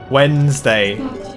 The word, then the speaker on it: Wednesday: How do I even say that without pronouncing the D? Wednesday.